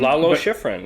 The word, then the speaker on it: Lalo Schifrin: after and it's uh Schiff How do you pronounce his name? Lalo Schifrin, yeah.